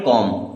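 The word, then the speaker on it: comb: क्या लिखा है नाइट सी ओ एम बी एम के बाद में बी आया तो बी होगा साइलेंट अब इसे हम केवल पढ़ेंगे कॉम क्या पढ़ेंगे कॉम के एन ई डब्लू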